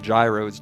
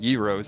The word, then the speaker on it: gyros: a yo, I know some people call them gyros, girros, I call them yros, that's the correct pronunciation.